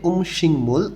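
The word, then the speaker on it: 음식물: উমশিংমুল সুরেগি, উমশিংমুল এখানে গিয়োগ বাচ্চিমের পরে যখন মিউম আসে তখন গটা অনেশ্বরের মতন উচ্চারণ হয়, উচ্চারণটা হবে উমশিংমুল অর্থাৎ খাদ্যদ্রব্য, সুরেগি আবর্জনা খাদ্যদ্রব্যের আবর্জনা।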